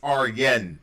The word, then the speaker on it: Arjen: Oh, by the way, Arjen is pronounced Arjen.